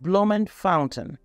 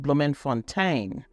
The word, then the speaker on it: Bloemfontein: Pretoria is for the executive, Cape Town for the legislature, and Bloemfontein, the judicial. It could also be pronounced Bloemfontein, but that's the judicial capital.